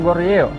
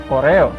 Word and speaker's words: Goryeo: Nama Korea sendiri berasal dari kata Goryeo, yaitu dinasti yang menyatukan Semenanjung Korea, baik utara maupun selatan, yang sering disebut dengan Koreo, sehingga belakangan berubah pengucapannya menjadi Korea.